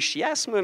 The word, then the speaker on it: chiasme: Ça s'écrit chiasme, mais ça se dit chiasme.